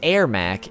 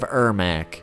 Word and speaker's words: Ermac: Ultimate Mortal Kombat 3 where the announcer would say his name as airac instead of herac AAC wins Flawless Victory